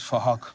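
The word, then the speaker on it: Phuc: His name is Fahak. It's spelled with a PH, so it sounds like Fahak. Please! All right, Fahak, Kanda Fahak.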